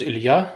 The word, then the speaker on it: Ilya: of our name so the russian pronunciation is ilya but in america i've been ilya for 30 years so it's pretty good